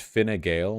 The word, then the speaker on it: Fine Gael: Seriously, it's pronounced Fine Gael.